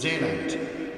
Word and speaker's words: Zeeland: The first boat Dad bought was a catamaran, which he called Zeeland, or pronounced Zeeland, after the province he grew up with in Holland.